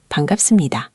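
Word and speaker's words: 반갑습니다: Ji-hoon, you'd say Ji-hoon-shi bangapseumnida. That bangapseumnida means nice to meet you. Bangapseumnida. Nice to meet you. Let's get that pronunciation crisp. It's ban gap The gap sound should pop a little.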